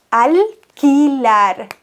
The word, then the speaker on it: alquilar: Alquilar. Alquilar. QU als K übrigens, weitere Regel. Alquilar. QU immer ein K.